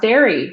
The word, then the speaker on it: Darë: over the E and it's pronounced dairy, but there's no dairy.